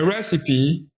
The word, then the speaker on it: recipe: A recipe. Ce mot est un peu bizarre parce que le dernier le E à la fin est prononcé, ce qui est bizarre en anglais.